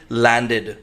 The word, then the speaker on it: landed: पहले डी आ जाए, जब भी ईडी से पहले डी आ जाए तो उसको प्रोनाउंस करना है आपको एड।